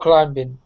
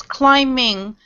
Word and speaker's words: climbing: pronounce the b it's climbing not climbing climbing yes yes the B is silent actually in this word okay okay so there's rock climbing Ahmed fate do you